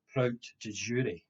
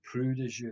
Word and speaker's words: prout de jure: And in that case, the proof was said to be a proof prout de jure, which some people I remember used to pronounce prou de jure, but it's spelled Proutdejure. That is a normal proof.